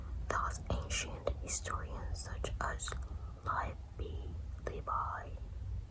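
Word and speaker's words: Livy: Thus ancient historians such as live Bi, how you pronounce it?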